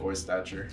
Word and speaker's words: Oystacher: It's just like it's spelled. Oystacher.